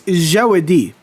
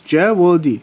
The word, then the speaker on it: Jawadi: It's Jawadi. So it's 3 syllables. Jawadi.